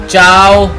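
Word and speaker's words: ciao: Example है जी चाओ, hello या गुड बाय। अब चाओ जो है उसके सी के बाद दो जो है वो वॉवल हैं, ये मैं जैसे प्रोनाउंस कर रहा हूँ चाओ, मैं ची आओ नहीं पढ़ रहा, मैं चाओ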